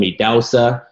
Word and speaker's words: Idahosa: How do people usually mispronounce it? Well, it's interesting because if I meet someone in person, I tell them Idahosa.